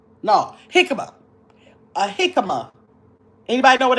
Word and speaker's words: jicama: Hikima.